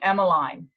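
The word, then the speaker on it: Emmaline: i suppose but i i pronounce her name emma line emma like as um the same as clothesline okay that's so i'm going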